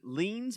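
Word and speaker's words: Leene: His mom and dad are in the room, and Lean's bell, Lean rhymes with queen.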